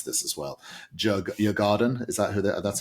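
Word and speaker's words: Djurgården: a very favourable draw against I can't even pronounce this as well. Jurgarden, is that who? That's how you pronounce. Is that how you pronounce it? I think, yeah. So Jurgarden, I don't they'll know.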